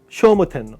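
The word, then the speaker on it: 聖武天皇: 그래서 나나야 니즈요네 724년에 쇼모텐너 이게 쇼모라 읽어야 돼요.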